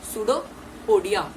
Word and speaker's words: pseudopodia: P इसमें silent होता है, pseudopodia मतलब अमीबा ने खाना टेक किया बाय द pseudopodia, उसी को हम कहेंगे indigestion।